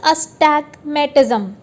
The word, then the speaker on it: astigmatism: सो इट इज़ अस्टैग्मेटिज्म। सो अस्टैग्मेटिज्म को हम कैसे प्रोनाउंस कर सकते हैं, UHSTIG, अस्टैग, मह, टी और ZM।